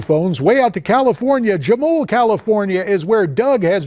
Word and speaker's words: Jamul: It's Jamul, California. I'm sorry, Jamul. I go through there. I should know that. I asked my staff, is the J silent? They did an Anglo pronunciation.